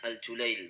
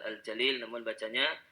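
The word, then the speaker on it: Al-Julayyil: IBN Nasir Al julairi itu bacanya Al julail bukan Al Jalil nama keluarga nama klan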